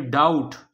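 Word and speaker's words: doubt: आगे है डाउट, डाउट में बी साइलेंट है।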